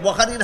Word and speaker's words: বুখারী: এটা ইংলিশ বুখারী পড়ে, ইংলিশ অক্ষরে বুখারী নাম বানান লেখা হয় BUKHARI। এটা কের পরে যেহেতু এইচ দিয়া বুখারী লেখে, এখানটা খার উচ্চারণ গাদায় চিনে না, কয় বুখারী, বুখারী না বুখারী।